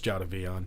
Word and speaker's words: Jadeveon: I refuse to say his name properly. It's Jadavion. Jadeveon.